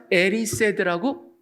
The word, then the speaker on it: Erised: 거울의 이름은요, 디자이어라는 영어를 스펠링을 거꾸로 한 겁니다. DESIRE니까 그걸 거꾸로 하면 어떻게 되겠습니까? ERISED. 그래서 에리세드라고 Mirror of Erised.